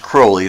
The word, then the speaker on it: Crowley: I'm going to say the name is actually pronounced Crowley. That's the way his father pronounced it. They had beer or ales or something, Crowley ales. Anyway, that was the family pronunciation of his name was Crowley. He said, "Those who wish to treat me foully call me Crowley." He said, "Call me Crowley because I'm holy."